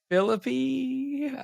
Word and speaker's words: Philippi: be talking about the ancient C city of Philipi Philippi uh once again we get into the Greek pronunciation um our phili for all of those that are from America GNA be listening to this that's uh you know how we we typically think of it but yeah so Philipp